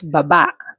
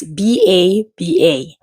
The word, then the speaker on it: baba: Next word is baba, spelled as B-A-B-A. It can be pronounced as baba, which means down or go down, or ba-ba, which means mouth.